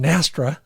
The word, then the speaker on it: NSTRA: Retrieve Association field trial, that's NSTRA, pronounced Nastra, I'm proud of myself